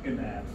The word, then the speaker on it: gnat: I always think it's bad we don't pronounce that G. So Gnaw, Gnat.